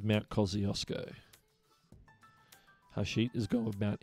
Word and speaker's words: Kosciuszko: And the answer is Mount Kosciuszko. Mount Kosciuszko. That's how it's pronounced.